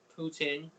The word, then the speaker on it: poutine: And they do their own version of poutine.